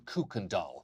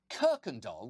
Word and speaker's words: Kuykendall: him bragging about being a descendant of Abraham cookendall not only does that last name sound like the Swedish translation for Bratz dolls for the record Abraham Kirkendall which is how it's actually pronounced was one